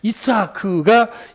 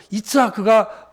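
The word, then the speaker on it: יצחק: 그게 우리 그냥 이삭 하는데, 이츠하크가 이제 본토 발음입니다. 저도 그냥 주석책에서 봤지만 히브리어 잘 알지도 못하고, 이츠하크가 본토 발음입니다.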